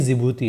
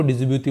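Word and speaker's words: Djibouti: लेकिन एक दिन न्यूज़ में सुना कि यार ये जिबूती है, और न्यूज़ वाले भी कई सारे ऐसे चैनल थे, वो भी उसको डिजिब्यूटी बोला करते थे। तो जब तक कोई बताएगा नहीं ना ये वर्ड साइलेंट है, आप लोग उसको वैसे ही पढ़ोगे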